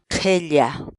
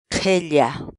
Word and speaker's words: qhilla: de videos en la que te enseñamos a pronunciar algunas palabras en quechua. Así que nuestra palabra del día por hoy es qhella, qhella, qhella, la palabra quechua.